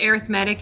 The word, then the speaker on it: arithmetic: geometric it is pronounced arithmetic even though it looks like arithmetic because it's an adjective it sounds different i don't know i